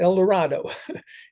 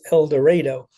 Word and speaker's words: El Dorado: Now, you'll notice it's not El Dorado, it's El Dorado.